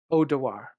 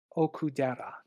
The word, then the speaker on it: Okudera: relationship between Taki and Odawar. Oh god damn it! I know I said it wrong. Ukudera. Okudera. Thank you.